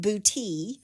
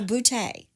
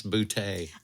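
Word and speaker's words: Boutte: to say it I also saw where some pronounce it bouty okay but it's named for Andre Claude boute of France so boute nice boute I'm trying to say all of these towns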